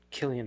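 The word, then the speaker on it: Cillian: his name how to pronounce so it is pronounced Killian Murphy okay did you guys see that Steve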